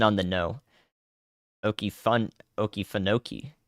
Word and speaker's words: Okefenokee: you have to put accent on the first and the fourth in order to achieve that yes this tornado warning